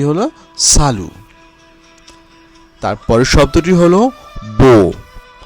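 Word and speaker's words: bon: তারপরের শব্দটি হলো বো। বো শব্দের বানানো একটি এন রয়েছে এবং যেহেতু এটি সর্বশেষে এবং এটি একটি কনসোনান্ট, তাই এই এনের উচ্চারণ হচ্ছে না, এর উচ্চারণ হবে বো।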